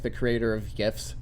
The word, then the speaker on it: GIF: like the creator of gifs they're like oh it's jiff no it's gif well again he says it it's a gift it's a gift it's a gift it's a gift it's